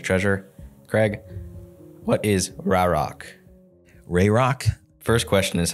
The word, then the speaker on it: RAROC: Craig what is rck rayrock first question is how do you pronounce it yeah In The Biz we say rayrock uh how do I